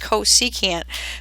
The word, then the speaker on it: cosecant: It's pronounced cosecant, but we abbreviate it CSC.